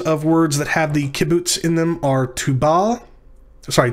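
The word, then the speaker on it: qibbuts: or long u-class vowel called kibbutz it's pronounced like the u in the word ruler when it is short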